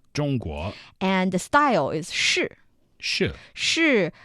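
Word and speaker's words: 式: And the style is shì. Shì. Shì. Same pronunciation with is, am, are but a different character.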